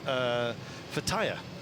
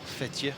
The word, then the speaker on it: Fethiye: Not that far, I've got to say, away from Fethiye, or Fethiye, or however you'd like to pronounce it. Both apparently valid.